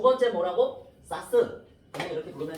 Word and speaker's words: SAS: 사스라고 읽으면 되고, 그래서 이렇게 외우세요.